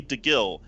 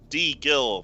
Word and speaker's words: DeGil: Call me DeGil. D Gil phonetically. Gil, not Jill." So like Gil from Final Fantasy.